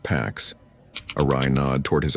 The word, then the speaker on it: P4X: He layered anonymity, used rented cloud instances, and hid behind the handle P4X pronounced packs.